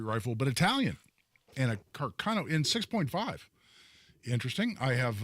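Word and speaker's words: Carcano: it was Italian uh Carano Carano probably uh is a better pronunciation uh made in Italy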